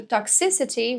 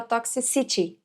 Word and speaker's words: toxicity: Então, se você pesquisar por toxicity, você vai ver que o si é a sílaba mais forte. Já sabia dessa? E é muito interessante isso, né? Porque tem muita gente que fala toxicity, porque a gente associa com o city de city, de cidade, mas nesse caso toxicity.